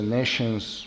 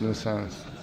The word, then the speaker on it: nescience: Some say nescience, some say nations, different pronunciation, British and Americans, no? How do you say? You're a good English teacher. This word is unusual. We went to internet and somebody said nations. Nations. Nescience. Not science, nescience.